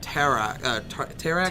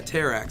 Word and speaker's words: Terrax: but it is action-packed he's going up against Terra Terra actually yeah Terrax so that I can never say his name